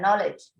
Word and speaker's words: knowledge: Third point, human resources, people, technology, नॉलेज, skill, ये silent रहता है, नॉलेज। knowledge, skill, quantity and ability.